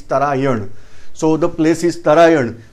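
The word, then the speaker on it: Tarain: In English, many times pronunciation we are pronouncing as Tarayin. It is not Tarayin, it is Tarayan.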